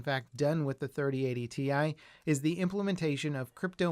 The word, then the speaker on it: Ti: a recent news video i referred to the ti cards as the tie cards as i learned that's actually how nvidia pronounces their names but it seems to not be the preferred way to say the name so i'll revert to calling it the ti from now on just